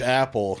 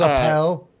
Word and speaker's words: Appel: But there's this guy named George Apple. Now his name's spelled Appel, Right. but it's still pronounced still Apple, Apple. right? So he's Not Appel.